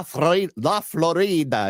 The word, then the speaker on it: Florida: Now, if I also may, Brian, how would you feel if people started pronouncing Florida, Florida? Because the origins of the word Florida, it's La Florida. It's land of flowers in Spanish.